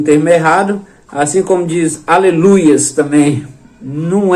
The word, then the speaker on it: aleluia: errado, assim como diz aleluias também, não é aleluias, quando no hebraico é aleluia, a pronúncia correta é aleluia.